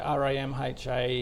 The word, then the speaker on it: RAMHA: Do we say it as the acronym? Yeah, so it's an ASX ticker. So, R A M H A is how to say it.